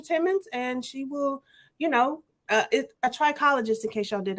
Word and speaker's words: trichologist: Y'all, I thought it was trichologist, and somebody was like, "No, that's not how you. That's not how you pronounce it." It ain't tricking if you got it. Please don't go in there with that lady talking about no trichologist. She's a trichologist. People was like, "Excuse me, what are you into?" It's all about the emphasis of the syllable.